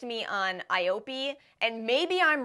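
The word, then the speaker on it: IOPE: told me to say I think they spelled out I Dash o p Das capital e e would you say I op they told me a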